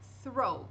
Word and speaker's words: throw: Aí a gente vai pronunciar throw, mas não vai confundir com outro, por quê? Porque tem OW. OW tem som de O.